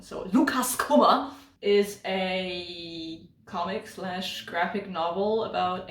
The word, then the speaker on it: Lukas Kummer: He's from Austria, so I should probably pronounce the name German. So Lukas Kummer is a comic/graphic novel